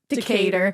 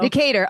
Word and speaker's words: Decatur: Commodore Stephen how do you say it Dave Decatur I was like table no Decatur oh yeah yeah d-e-c-a-t-e-u-r or whatever there you go Commodore Stephen Decatur I like it he visited the Hanover Iron